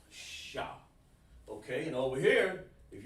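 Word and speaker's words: ש: that's is a shot it looks like a w but it's actually pronounced sha okay and over here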